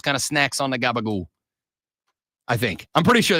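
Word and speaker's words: gabagool: Is an Italian American pronunciation of capacola, a cured meat made from pork neck and shoulders.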